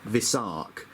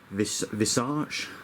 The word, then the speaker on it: Visarch: So you've got uh Inhan, Ira, and Visarch. Uh I thought it was uh visarch. Uh, it's so difficult to look at a word that has, you know, a r c and not pronounce it arch.